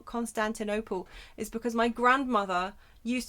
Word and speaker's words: Constantinople: Constantin opal, but like instead of opal like the stone, it's op. Constantinople.